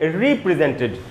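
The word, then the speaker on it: represent: The check has been रिप्रेजेंटेड। तो जब एक ही वर्ड है, वर्ब है, दो उच्चारण है, पहला उच्चारण है रेप्रेजेंट, तब मीनिंग होगा प्रतिनिधित्व करना। दूसरा उच्चारण है रिप्रेजेंट, तो मीनिंग है दोबारा से प्रस्तुत करना, दोबारा से पेश करना।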